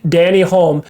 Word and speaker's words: Denny Hulme: It's actually funny because in our last podcast, we didn't know how to pronounce that New Zealander's name. Now we know. Danny Hulme, and that record wasn't beaten the following year in 1970.